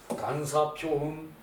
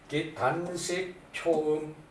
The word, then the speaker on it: 단사표음: 여러분이 들을 때 단사표음이나 단식표음이나 같죠, 그죠? 단식표음이라고 읽는다고 무식하다 그러시면 안 돼요. 너너 좀 배웠다고 단사표음이라고 그런다는 거야. 그건 이해가 가는데 단식표음이라고 그런다고 무식하다 그러면 안 돼요, 여러분.